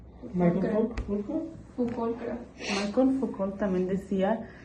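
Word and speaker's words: Michel Foucault: Ok, ¿cómo se pronuncia? Michael Foucault, creo.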